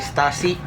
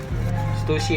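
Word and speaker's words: Stüssy: Ini baseball cap dari Stasi. Stusy, sorry Stusi ya bacanya nih.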